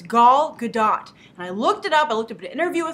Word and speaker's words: Gadot: me as well that she's Israeli so you have to go by the Israeli pronunciation so it's G gdat and I looked it